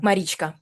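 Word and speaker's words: Марічка: You know, so why Yeah, the should anxiety of yeah, like yeah, what's it, and these Marichika? Marichka. Thank you. yeah, Uh my very American pronunciation of it.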